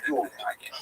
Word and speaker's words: Jude: So that's a Lithuanian pronunciation, Y-I-D, yid. If you live in Western Germany, you would say Jude, right?